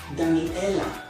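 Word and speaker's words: דניאלה: As you can see here, there's a line under the dalet making da. Da. There's only one dot under the nun, followed by a yod as a vowel indicator. So it's ni, da, ni. Then there are multiple dots under the alef, so it's e, and the line under the lamed ending with la, Daniela.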